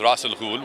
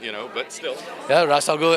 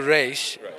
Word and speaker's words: Ra's al Ghul: you get to play the Arabic pronunciation is Ra's al Ghul which translates to head of the demon so again Ra's al Ghul as opposed to race which apparently is the